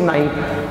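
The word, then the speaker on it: knife: Okay, when you just cut the vegetable और anything, then you यूज नाइफ। आप इसको नाइफ बोलोगे, इसमें भी के साइलेंट रहेगा, दिस इज कॉल्ड नाइट।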